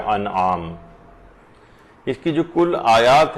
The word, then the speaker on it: انعام: وہ یہ ہے کہ لوگ اسے سورہ انعام پڑھتے ہیں، جبکہ یہ ہے سورہ انعام، یہ زیر کے ساتھ نہیں ہے بلکہ یہ زبر کے ساتھ ہے، تو اس کا صحیح تلفظ ہوگا سورہ انعام۔ اس کی جو کل